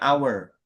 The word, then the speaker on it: hour: Nah, meskipun dia tulisannya konsonan di tapi kan bacanya hour, an hour gitu kan.